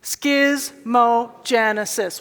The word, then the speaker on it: schismogenesis: so I did the schismogenesis say it with me schismogenesis once more schismogenesis that's how you say it now where are